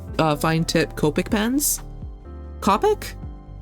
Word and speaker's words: Copic: like the th uh fine tip Copic pens Copic not to be confused with cop pronounced it Copic yeah yeah not not to